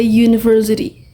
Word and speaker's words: university: Kalau misalnya eh universitas. Jadi bacanya bukan bukan an uni tapi a university. A university. Jadi ujungnya kenapa? Karena bacanya universitas tuh university gitu ya, pakai u. Pokoknya u kan u sana, tapi itu memang memang vowel tapi bacanya u. Jadi university. Berarti a university. Bukan an uni gitu kan, bacanya y ya.